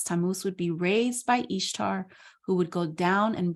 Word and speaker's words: Ishtar: is the spouse of Ishtar pronounced Easter tamus would sacrifice his